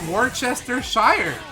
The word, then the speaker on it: Worcestershire: It's Worcestershire. That's how you spell it.